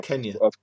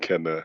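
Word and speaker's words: Kena: I was calling it Keena, but then I Kenya. heard them in the trailer. They were saying Kenna, and it's like, okay, cool. That's how you say it.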